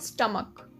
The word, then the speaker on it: stomach: इसके लास्ट में CH आ रहा है तो इसकी प्रोनाउंसिएशन जो है वो क की हो जाती है, यानी स्टमक।